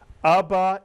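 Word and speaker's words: אבא: The third Hebrew word I taught you, two vowels, two syllables. Abba is correct, and Abba means daddy or father in Hebrew.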